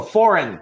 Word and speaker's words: foreign: silent that's it oh also foreign we never say for foreign the g is silent that's it simple so